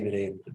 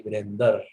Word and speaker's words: Virendra: But if you look at the other words like Virendra, they never say Virendra. They say Virender, Dharmender, Narendra, right?